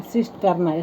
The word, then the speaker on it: cisternae: सिस्टर्ना। Spelling याद रखिएगा, CISTERNAE, सिस्टर्ना।